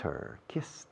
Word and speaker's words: her: I've kissed her. I've kissed her. La H de her, casi me la como.